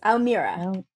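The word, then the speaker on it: al'Meara: very pretty naive owl miara oh very close almirah almirah yeah nighty valmira is being played by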